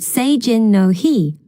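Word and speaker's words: Seijin no Hi: about a festival in the festival is called s Jin no he which is spelled s e i j i n n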